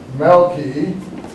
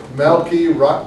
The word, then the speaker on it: Melchizedek: Yes, but you shouldn't do those pronunciations. You get the right one, because then the word comes out nice. Melchizedek.